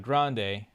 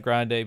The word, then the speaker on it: Grande: Then you know what would then become Ariana Grande later on. So then after victorious and I Carly simultaneously ended also it's not Ariana Grand is how her name is actually pronounced and nobody and she never corrected anybody.